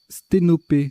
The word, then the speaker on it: sténopé: Sténopé, alors c'est un nom commun, hein, ça s'écrit, ça se prononce P à la fin, enfin et à la fin, mais c'est ni un verbe ni un adjectif.